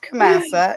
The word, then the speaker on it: Kamasa: Pronounced Kamasa.